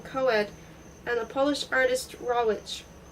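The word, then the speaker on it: Rawitch: She had just opened a boutique, Davant Tales, with another Sen Coed, and the Polish artist Raw Witch, pronounced by some raw Itch, by him raw witch.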